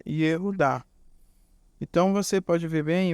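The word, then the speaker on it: Yehudá: Então, temos na primeira sílaba Yehu. E logo em seguida, da direita para a esquerda, você vê aí a segunda sílaba, que é Dá. Ou seja, Yehu Dá.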